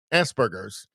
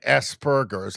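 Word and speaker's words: Asperger's: Um, it may be a It's hard to tell with I mean he's got that Asberers. Uh, it's like pronounced like ASP, like asberers. I prefer to say asberers.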